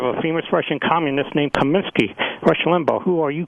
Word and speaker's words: Comiskey: Dibble as a white cops announcer near that Comiskey must be a famous russian communist they're very slowly and pompously pronounced Comiskey accurately but then proceeded to spell